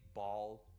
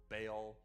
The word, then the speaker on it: Baal: So I know people pronounce his name differently. Bal Bale Bal. I'm going to say Bale because I've always said it that way and because I have Bale knowledge.